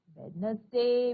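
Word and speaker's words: Wednesday: ट्युसडे ट्युसडे नंतर येतो वेडनेसडे मी तुम्हाला आत्ताच बोलली आहे वेडनसडेचा उच्चार कसा करायचा तर त्यातला डी हा सायलेंट लेटर आहे म्हणजे तो उच्चारायचा नाही पण स्पेलिंग मध्ये लिहायचा बरोबर अशाप्रकारे आपण इथे ऍक्टिव्हिटी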